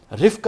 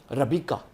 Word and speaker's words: ربیقہ: جو زوجہ محترمہ ہیں ان کے دو نام آتے ہیں، رفقہ بھی کہتے ہیں، ربقہ بھی کہتے ہیں، اور ربیقہ بھی کہا گیا ہے بائبل میں۔ ربیقہ یہ سب سے بہتر تلفظ ہے۔ تو آپ سے دو